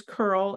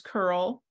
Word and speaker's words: curl: API you can use Curl at the command line which is I don't know if this is correct but I just pronounce it as C URL see this URL you can use Postman